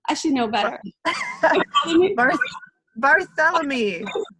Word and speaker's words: Barthélémy: I should know better barthélémy barthélémy it's like Bartholomew but oh well I'm not Kelly